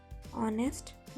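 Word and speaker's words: honest: When H comes after a vowel or in GH, it's silent. Mean that H vowel के बाद आता है या GH में होता है तो ये साइलेंट होता है. For example our, ऑनेस्ट, घोस्ट.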